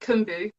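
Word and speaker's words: keum-boo: yeah, I pronounce it kumbu. I'm not Korean, but that's how I how I pronounce it.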